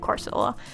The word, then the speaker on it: Corsola: added a corsola corsola that's that's how you pronounce it corsola um there in the bottom and then i